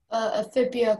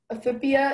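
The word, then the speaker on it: ephippia: Aphibia, can you repeat the language of origin? Yes. Aphibia is from New Latin. Aphibia. Can you repeat all the information? Yes. It's pronounced aphibia or aphibia.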